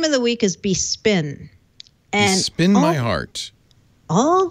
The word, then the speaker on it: Bespin: through this with Brad it's not it's not bepin it's not bepin that's how I've been pronouncing that's the English word that's the English version of it bespin sorry everyone bespin like dust besin how am I